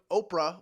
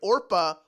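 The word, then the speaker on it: Orpah: change the name or Oprah was born from people mispronouncing her actually which is that's right orpa was her birth name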